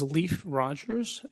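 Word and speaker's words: Leif Rogers: My name is Leaf Rogers. It's spelled L E I F R O G E R S.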